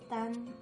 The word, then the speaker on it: 蛋: The plus an is dan, and in the fourth tone, dan makes 蛋糕, meaning cake. Then the plus ang makes dang.